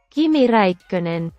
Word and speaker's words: Kimi Räikkönen: The translation function is of course still under development, but the pronunciation is still quite okay. Kimi Räikkönen.